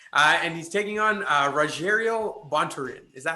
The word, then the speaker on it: Bontorin: And he's taking on Rogerio Bontorin. Is that how you say his name? Bontorin, yeah.